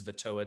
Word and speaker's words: Vettoa: approach musalia this planet also known as vettoa to the hyenals which is how you say that word i was super wrong last week as we come into